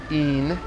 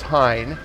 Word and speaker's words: Hine: called Pine H I and II the French pronounce it een but its Hine because the Hine brothers in the 1700s decided